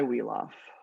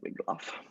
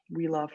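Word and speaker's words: Wiglaf: of like pushed back then there's this guy weof this is pronounced weof by the way um I know when you look at it it looks like wigl you can say it like that but weaf is proper so um he's one of the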